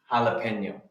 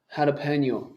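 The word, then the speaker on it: jalapeño: So in Spanish, J is pronounced H. Jalapeno. Jalapeno.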